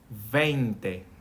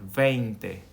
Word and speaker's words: veinte: Veinte. More like a vein. Veinte.